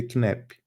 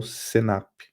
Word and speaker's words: CNAPP: e abreviar eu tenho em inglês a gente pronuncia knep ou senap o que eles fizeram